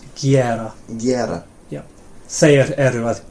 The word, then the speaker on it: gera: So not geira, but gera.